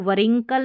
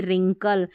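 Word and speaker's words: wrinkle: Worrying नहीं ring, और इसको वरिंकल नहीं रिंकल, इसको भी देखिए रिस्ट रॉन्ग, W नहीं पढ़ना है।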